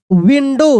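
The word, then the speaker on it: window: डी है near the विंडो देखिए shadow विंडो ओ ओ डब्ल्यू रहेगा तो डब्ल्यू का साइलेंट डब्ल्यू साइलेंट हो जाएगा ओ को ओ ही पढ़ देंगे ठीक है ना विंडो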